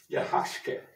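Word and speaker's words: yaxche: the mayan sacred tree yahashke is how they pronounce it in mayan it means world tree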